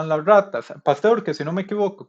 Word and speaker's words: Pasteur: la química fue gracias al enfoque experimental luís pastor así se pronuncia pero ahí le agradezco a los apuntadores